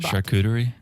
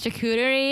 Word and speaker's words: charcuterie: okay nice like i don't know how to pronounce this word charcuterie yes thank you nice chicuteri and the bottle of rose all day with